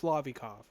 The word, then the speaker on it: Lovikov: Um I have no clue how I mispronounced Lovikov so bad and how I didn't catch it. Um it's Lovikov. thing Lovica balls which you turn into Lovica.